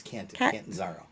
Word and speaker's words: Catanzaro: Yeah, it's not Cotton, it's Catanzaro.